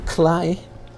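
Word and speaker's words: Klei: Thank you, Cly, for that. It rhymes with play.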